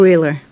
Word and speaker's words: Wheeler: Wheeler. Yes, and just so you know, it's pronounced Wyler.